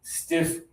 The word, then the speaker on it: stiff: And here, this one is lower tongue. Breathe out extra air.